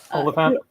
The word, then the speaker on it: Olyphant: And the gentleman that ended up being the drug dealer guy at the beginning, Timothy Olyphant, is that how you say his name? Oliphant.